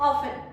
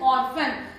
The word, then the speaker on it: often: Silent रहेगा, that is ऑफन, ऑफन इसको बोल देते हैं, दैट इज ऑर्फन, लेकिन ऑर्फन नहीं होता, दैट इज ऑफन, क्योंकि आर को आपको साइलेंट रखना पड़ता है।